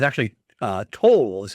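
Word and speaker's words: Towle: misplaced and you know but it's actually uh toll is how you pronounce it and it goes for great money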